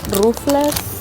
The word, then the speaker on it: Ruffles: I know in Mexico, the way they pronounce it is Rufles. I just call them Ruffles because it's Ruffles.